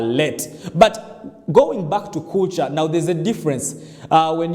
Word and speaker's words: Kulca: When you see on the screen right now, it is for Africa here, we say Kulca, but the Turkish pronounce it as either Kulca or Kulca, something like that.